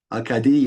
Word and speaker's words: Acadie: And then Daniel Lanois, 1989 album, Acadie. Is that how you pronounce it? Acadie. Okay, because it's French.